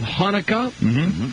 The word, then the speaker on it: Chanukah: Tonight is also the first night of Hanukkah, or as you Jewish people call it, Chanukah. Chanukah, that is the correct pronunciation.